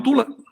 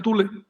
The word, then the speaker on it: Tule: Y estos grupos hicieron en 1924, se independizaron como nación y se llamaron Tula. Ellos pronuncian Tule, eh, y me y